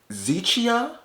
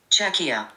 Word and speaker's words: Czechia: Zichia? Where's this at? Czechia. Czechia. Czechia. It's spelled C-Z-E-C.